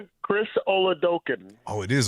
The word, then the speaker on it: Oladokun: But how the hell do you pronounce your quarterback's name? Chris Oladokun. Oh, it is Oladokun.